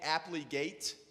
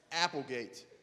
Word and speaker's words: Applegate: name is it's they called me aptly gate and as I hold on a second yeah it's Applegate it's two different words here right how are you how does it sound well how do you pronounce it well just as it sounds actually apple and gate all right so some